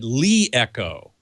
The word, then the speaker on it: LeEco: of product development, and I asked him, how do you pronounce that name? He said Leeco.